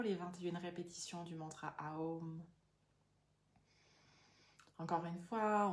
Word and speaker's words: Aum: 21 répétitions du mantra Aum. Encore une fois, on prononce A ou M de façon égale pour vraiment créer cette harmonie à l'intérieur de nous.